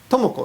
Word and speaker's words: Tomoko: to make a mistake okay tomoko is correct yes but they say Tomo m right and for example Yuko Yuko yeah so it's flat Yuko tomoko but many foreigners say